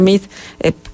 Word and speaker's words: Meade: decirle a la gente: no se asuste por mi apellido, porque aunque se escribe Meade, se pronuncia Mid, que eso es lo que dicen algunos de los anuncios.